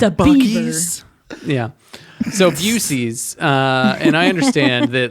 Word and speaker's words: Buc-ee's: How do you pronounce it? Buc-ee's? Oh, Oh. it's Busey's.